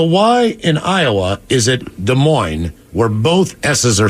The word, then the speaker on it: Des Moines: where both s's are silent on the end of both words but here it's Des Moines no here it's desmo or is it is it Des Moines It's Des Moines I think it's just Des Moines Des Moines so there's the S at the end but not at the beginning but remember on the